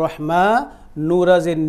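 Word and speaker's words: الرحمن: এইখানেও রাটা প্রথমে চিকন হবে, এখানে যেমন হারাজের হির ছিল এইখানেও প্রথমে এসে রাটাকে চিকন করে আমরা এটাকে বলা হয় তাজবিদের ভাষায় বলা হয় বারিক বলা হয়, চিকন করে উচ্চারণ করব রাটাকে, নুরাজের নির, বিসমিল্লাহির রহমানির,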